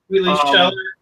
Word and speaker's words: Wheatley Schaller: Yeah, it's actually totally phonetic, just really long. Wheatley Schaller, brother.